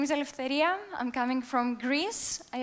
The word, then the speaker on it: Eleftheria: hi my name is Alia I'm coming from Greece I also know that my name is a little bit difficult to pronunciate it so if you can say Alia just go with it's fine uh but